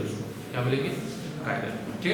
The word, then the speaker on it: chiral: Exact उसका जो pronunciation होता है उसको कायरल कहा जाता है। क्या कहते हैं, कायरल। कुछ लोग चिराग भी यूज करते हैं, है ना, चिराग, CHIRAL। तो एग्जैक्ट क्या होता है, कायरल बोलेंगे उसको, क्या बोलेंगे, कायरल, ठीक है।